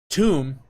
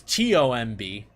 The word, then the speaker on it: tomb: and then, you know, tomb is T-O-M-B, not Tom. If you were to spell it the same way, if you switch the T or the B with a T. So it's actually tomb, which is also different